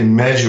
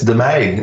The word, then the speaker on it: De Meij: Most people say Meij or Meiji, but it's De Meij, and you got it right.